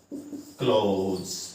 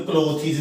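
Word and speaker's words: clothes: क्लोथ्स, इन्हों क्लोथीज नहीं कहना। ठीक है, बहुत सारे बच्चे ना क्लोथीज भी कहते हैं, क्लोथीज।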